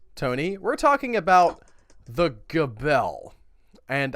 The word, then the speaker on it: Gabelle: In France, Tony, we're talking about the Gabelle. And I did look up several pronunciations that had the hard G.